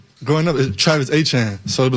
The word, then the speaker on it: Etienne: He's signed with the Saints, and he says, hey, it's basically good to be back home where everybody's going to pronounce my name correctly because it's Travis Achan.